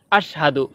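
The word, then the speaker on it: أشهد: অনেকে বলে আশহাদু। আশহাদু হবে না, হবে আশহাদু। সঠিক উচ্চারণ আশহাদু।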